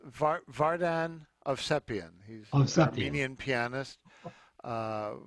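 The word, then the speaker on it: Vardan Ovsepian: bassist now is it barden how do you pronounce the piano player's name it's vardan of sepian he's a convenient pianist uh who uh i'm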